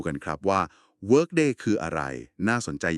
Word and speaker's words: Workday: ท่าน อาจ จะ เคย ได้ ยิน มา บ้าง W O R K D A Y อ่าน ว่า Work Day นะ ครับ เป็น แพลตฟอร์ม